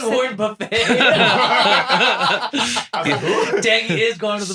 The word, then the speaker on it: Buffett: Oh my god, I think it's Buffett, but I think I Buffet, was but it's spelled buffet. but spelled buffet, yeah.